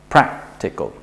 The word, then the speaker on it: practical: here we have practical now since there are only three syllables then we just put the stress on the first one practical this rule can also